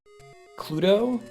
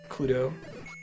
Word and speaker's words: Cluedo: I've only seen it written as Cluedo. But it was meant to rhyme with Clue.